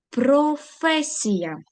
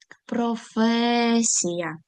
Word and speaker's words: професія: Професія. Звертаємо увагу наголос на другий склад. Професія. Наступне слово.